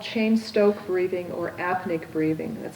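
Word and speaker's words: Cheyne-Stokes: breathing and that pattern change is often called chain Stoke breathing or apnic breathing that's spelled AP Nea and chain Stoke is CH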